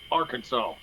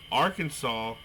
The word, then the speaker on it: Arkansas: Arkansas, it is illegal to pronounce Arkansas as Arkansas.